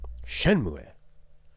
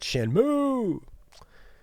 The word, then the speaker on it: Shenmue: go the Japanese way have to put the emphasis on the first syllable shenmu not shenmu um anyways Christmas on